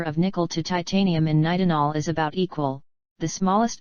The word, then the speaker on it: nitinol: named their new alloy nitinol pronounced night in all the name represents its